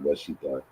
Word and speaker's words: Washita: If you was to ask one who say that they Washita, right, which is the correct pronunciation, Washita, right?